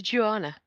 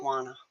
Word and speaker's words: Juana: I'll move on to Joanna. It's Juana. Sorry. Juana.